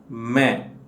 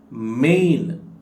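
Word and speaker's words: मैं: ಈ ರೀತಿ ಹೇಳುತ್ತೇವೆ ಮೆಂಐಎನ್ ಮೇನ್ ಅಂತ ನೀವು ಇದನ್ನು ಓದಬಾರದುಎಐಎನ್ ಮೆ ಅಂತ ಹೇಳಬೇಕು ಈಎನ್ ಅಕ್ಷರ ಉಂಟಲ್ಲಎನ್ ಅಕ್ಷರವನ್ನು ನೀವು ಮೂಗಿನ ಸಹಾಯದಿಂದ ಉಚ್ಚಾರ ಮಾಡಬೇಕು ನೀವುಇದನ್ನು ಮೇನ್ ಅಂತ ಓದಬಾರದು ಮೇ ಅಂತ ಓದಬೇಕು ಅಥವಾ ಮೇ ಅಂತ ಹೇಳಬೇಕು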